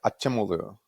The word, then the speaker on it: Acemoglu: his last name aogu Asim mogu I mean I think the Turkish pronunciation is more like aimu but like I think uh he just goes by asoglu he's not born in